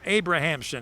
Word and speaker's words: Abramson: that brings up eric abramson from barrington the sixth hitter in the order for outlaws eric abrahamson is the way he pronounces his name he tells me eric abrahamson andy riznicki of rolling